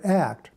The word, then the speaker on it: ACT: therapy or training or act which is pronounced as a single word the tan act can